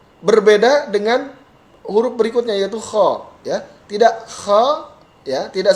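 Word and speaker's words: خ: Ha kha. Tidak kho ya. Beda. Jadi mulut tidak kho tapi kha. Tidak A. Tidak seperti A, tidak kha tapi kha.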